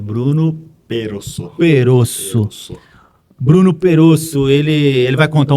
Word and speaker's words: Bruno Perosso: Eu só preciso saber qual que é a pronúncia certa. É Bruno Perosso.